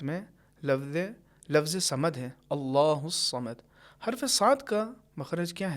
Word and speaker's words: الصمد: جیسے ادا ہوتے ہیں، لیکن عربی میں حرف صاد کا تلفظ بھاری آواز کے ساتھ ہوتا ہے، اللہ الصمد۔ لہٰذا اس کو اگر ہم سین کے طریقے سے نازک آواز سے پڑھیں گے اللہ الصمد، یہ صحیح نہیں ہے۔ اور یہی حرف ہے